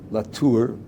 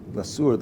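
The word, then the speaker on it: לתור: One is latur, or lasur, the Ashkenazi pronunciation, but it's written with a suf, not with a samach or a sin.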